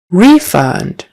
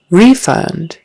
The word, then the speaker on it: refund: t um middle middle refund refund so Accent on the first syllable a refund I hope